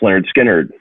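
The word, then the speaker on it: Lynyrd Skynyrd: Pepper or Abbey Road, or Willie and the Poor Boys by Creedence, the pronounced Lynard Skynard, the first record, and then Second Helping by Lynard Skynard.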